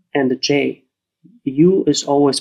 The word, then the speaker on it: ju: Same with J-U, Ju, and X-U, Qu. So after X, Q, and J, U is always pronounced as an umlaut, U.